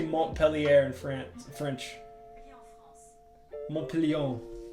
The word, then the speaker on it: Montpellier: Montpellier. Montpellier.